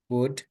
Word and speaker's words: would: Eh Salma would should should would might might. Okay. So that's the way how you pronounce it. Okay. Eliminate the L sound.